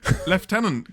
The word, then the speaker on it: lieutenant: way to pronounce it lieutenant come on there's no f in there come on where is